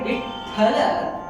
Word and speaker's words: Vithala: For example, the term Vithala itself has to be pronounced that way, because tha, when we say Vithala, the tha sound that